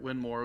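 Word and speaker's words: Winmau: Winmore.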